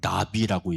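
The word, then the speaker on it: נביא: 어 아이 선지자를 가르쳐서 선견자라고 어 그렇게 얘기도 하고 그리고 히브리어로는 나비라고 얘기합니다. 어 발음이 날아다니는 나비.에 에 그런 나비와 똑같은데 어 선견자 예언자라고 하는 그런 의미를 가지고 있습니다.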